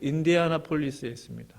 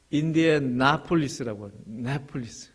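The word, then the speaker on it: Indianapolis: 향해서 이제 선교하는 단체입니다 그 헤르코로 가요 그 인디아나폴리스였습니다 그래서이 발음이 엑센이 한국식으로 하면 임대 하나 폴리스였는데 다른데 있더라고요 인디애나폴리스라고 좀 애를 먹었는데요 있습니다 저분이 이제 유지 낙하다라고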